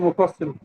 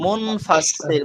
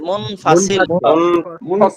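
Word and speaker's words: منفصل: মধ্যে মুফাসসিল মধ্যে মুফাসসিল, একটু কারেকশন, মুনফাসসিল মুনফাসিল মুনফাসিল। হ্যাঁ, উচ্চারণটা আমার ঠিক হচ্ছিল না হুজুর।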